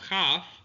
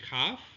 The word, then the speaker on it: Chaf: So historically, Het was pronounced deep in the throat, while Chaf was pronounced at the roof of the mouth. Today, both are pronounced at the roof of the mouth, but in our course, we will try to maintain a distinction between Het and Chaf.